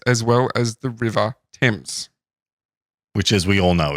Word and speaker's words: Thames: And it was also alongside a passageway which led to the Parliament stairs as well as the River Thames. Which, as we all know, is pronounced Thames.